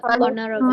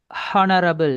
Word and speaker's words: honorable: Okay, சிலவங்க pronounce பண்ணும்போது அந்த ஹெச் சவுண்டை அழுத்தி ஹானஸ்டி அப்படி ப்ரொனவுன்ஸ் பண்ணுறாங்க. That's wrong. இதை ப்ரொனவுன்ஸ் பண்ண போக்கில் ஹவர் அண்ட் ஹெச் சவுண்டை ப்ரொனவுன்ஸ் பண்ணாங்க. It's wrong. ஹானரபிள் அண்ட் H sound pronounce பண்ணுறாங்க. ராங். இப்படி வரக்கூடிய இந்த வேர்ட்ஸில் வரக்கூடிய ஹெச் சவுண்ட் வந்து சைலண்ட்.